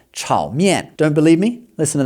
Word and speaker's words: chow mein: but pronounce with their correct tones and correct pronunciation. For example, you may have been ordering chow mein all this time in Chinese restaurants, but it's actually supposed to be pronounced chow mein.